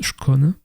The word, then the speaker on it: Skåne: Allez, la Suède du plus au sud, nous avons Schon. Oui, ça se prononce Schcon et Pascan.